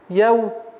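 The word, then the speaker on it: يوم الدين: Так как даль является солнечным звуком, автоматически артикль не читается. Итого получается у нас яумиддин. Нужно немножко давить, так как при отсутствии давления на местонахождение буквы даль получится т. Яумиддин.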